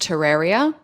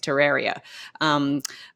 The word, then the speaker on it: Terraria: I believe it's pronounced Terraria. Okay. In spite of the way it's spelled.